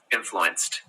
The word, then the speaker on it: influenced: Influenced. That he influenced my life. Yeah, we use a T kind of sound at the end instead of a D.